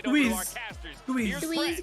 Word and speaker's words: TUIZ: है उसका अरे ट्यूज TUIZ को कैसे प्रोनाउंस करेंगे ट्वीज क्यों अबे जेड तो साइलेंट होगा जेड क्यों हाँ टू